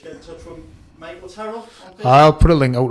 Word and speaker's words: Terrill: It's Have I been saying Tyrell or Terrill tonight? Terrill. It is Terrill.